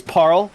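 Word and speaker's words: Paarl: It's Parl, but I like to say Paul.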